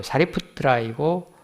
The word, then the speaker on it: 사리푸트라: 그분이 그 인도 발음으로 사리푸트라이고 뭐 사리자, 사리불 그렇게 한자경에 적고 있는데 그분이 제일 제자고 그